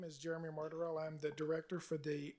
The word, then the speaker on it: Martorell: We have Jeremy Martell. Did I pronounce that correctly?